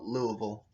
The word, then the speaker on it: Louisville: artillery artery into louisville by the way it's spelt louisville but here in kentucky we call it louisville heavy freight trains cross